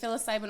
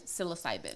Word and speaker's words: psilocybin: Psilocybin, because I've heard it pronounced like 4 different ways. You can say psilocybin or you can say psilocybin. Psilocybin. The technical term is psilocybin.